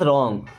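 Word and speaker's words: wrong: is means है रंग अब यहां पर डब्लू साइलेंट होता है ध्यान रखिएगा कभी भी अगर डब्लू की जस्ट बाद में आर होगा ना तो डब्लू वहां प साइलेंट साइलेंट का मतलब क्या कि उ लिखा जाएगा बट पढ़ा नहीं जाएगा ओके समथिंग इज रंग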